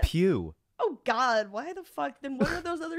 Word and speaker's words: Pugh: i just thought lawrence pugh like florence did you say pug is that not how you say it pew oh god why the